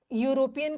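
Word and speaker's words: European: यहाँ पे यूरोपियन का उच्चारण क्या आ रहा है, यूरोपियन नहीं है,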